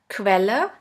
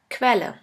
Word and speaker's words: Quelle: The next one is QU, which is pronounced like the letter combination K and V. Let's have a look at the example. Quelle, which means source. Pferd, Quelle.